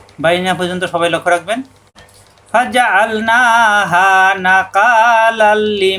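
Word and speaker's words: فجعلناها: ফাজআলনাহা নাকালাল lima বাইনা। ফাজআল আইন চাপ দিয়ে ফাজআল না একালিপ টান। এখানে ফাজা আল পর্যন্ত কোনো টান নাই।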